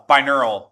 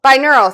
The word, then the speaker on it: binaural: Binaural. Binaural, thank you. I knew I was saying it wrong.